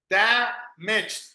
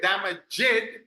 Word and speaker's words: damaged: Damaged. So that D, you don't say damaged. You don't say that. Damaged. So it's almost like this. Damaged. It's almost 3 sounds. 3 syllables almost.